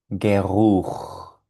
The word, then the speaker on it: Geruch: La CH suena como J.